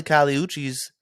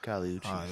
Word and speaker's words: Kali Uchis: Apparently, Kali Uchis killed the show.